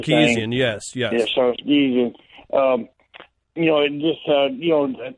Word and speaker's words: Sarkisian: And then they bring in Steve Sarkisian, or how you pronounce his name. Sarkisian, yes.